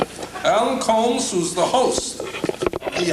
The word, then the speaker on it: Colmes: to pronounce that because it's like Sherlock Holmes with a C Alan Colmes who's the host of